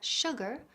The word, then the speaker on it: sugar: Lo mismo sucede con la palabra sugar o insurance, donde la sh se pronuncia como sh.